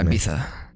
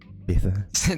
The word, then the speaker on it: Ibiza: Ibiza. Ibiza. They do this like TH sound at the end of any like traditional Spanish word that you would be like, okay.